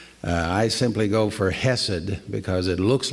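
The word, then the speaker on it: חסד: Hebrew to English but the sound has usually that CH sound to it or sometimes you'll see it written with a KH cassidy that's kind of the way the Hebrews would pronounce it Cassidy I simply go for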